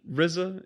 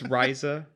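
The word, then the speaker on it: Ryza: attilia riza pretty hard rizza if you're from the wu tang pronunciation um if not it's rhiza but what have you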